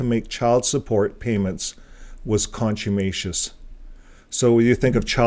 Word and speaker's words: contumacious: it up on Google it's contumacious contumacious contumacious that's the American here's the British contumacious contumacious contumacious so I kind of say it a little bit of both contumacious contumacious so the